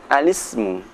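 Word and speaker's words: الاسم: Bacaan al-ismu, cara membacanya al-ismu. Karena apa? Karena al-ismu ini merupakan hamzah wasal, maka suara i tidak perlu dibaca.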